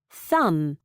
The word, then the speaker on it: thumb: The B in MB and BT is always silent at the end of a word. Thumb.